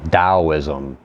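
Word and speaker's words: Taoism: Daoism. Pronounced with a D spelled with a T. Dowism.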